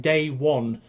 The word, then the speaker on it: Daewon: It sounds like a T, but it's Daewon.